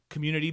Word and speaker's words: Communitea: And that's, I'm very deliberate in how I pronounce it because it's not community, it's community, but then instead of the Y, it's TEA. So it's like a tea dance.